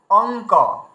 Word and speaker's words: অঙ্ক: তাহলে আমরা কি উচ্চারণ করছি, অঙ্ক। দেখুন আমরা কিন্তু অঙ্ক যখন বলছি ওই উয়াকে কিন্তু আমরা উচ্চারণ করছি। এই দেখুন আমরা এইভাবে উচ্চারণ করছি অঙ্ক, মানে অ উয়াই কয় অঙ্ক।